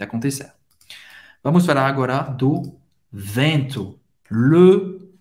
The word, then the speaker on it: vent: Vamos falar agora do vento. Le vent. Le vent. E N em francês tem o som do en. En, que é bem nasal. En. O T, você não vai pronunciar.